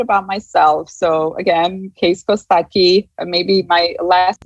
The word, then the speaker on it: Kostaqi: a little bit about myself so again case kostaki maybe my last name seems a little bit um strange it's actually pronounced costachi and is it is from a it's a